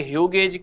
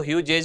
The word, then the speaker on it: Hughes: ये ह्यूगेज, कभी कभी आपको ह्यूजेज भी मिल सकता है, प्रोनाउंसिएशन अलग अलग होता है, HUGHES इसका नाम है।